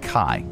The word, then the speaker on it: chi: is it oh Kai it's pronounced like Kai k a i uh which is the